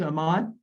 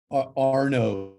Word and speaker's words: Arno: So, and it's Ahmad. Did I pronounce that right? Arno. Arno. Arno. It's pronounced A-R-N-O.